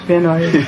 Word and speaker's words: Van Nuys: Van Nuys. Van Nuys, yeah, that would be the actual pronunciation.